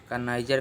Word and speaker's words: connoisseur: CONN होता है इसमें, OI भी होता है, SSEUR, कनाइजर कहते हैं इसको, कनाइजर कहते हैं।